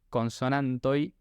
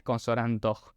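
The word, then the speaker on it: konsonantoj: Entonces, en este caso, si vemos la palabra que tenemos arriba, consonantoi, se pronuncia así porque justamente no es consonantoj, es consonantoi.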